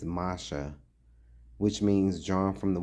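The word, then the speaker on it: משה: The name Moses pronounced in ancient Hebrew is Masha, which means drawn from the water.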